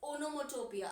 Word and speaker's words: onomatopoeia: इट इज ओनोमोटोपिया. अब इसकी spelling हम कैसे याद रखते हैं?